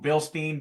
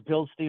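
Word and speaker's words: Bilstein: say it it depends I don't know if it's Bill Stein or Bill steining depends on who you're talking to I think if you're a German I I think it's supposed to be pronounced Bill Stein but who knows yeah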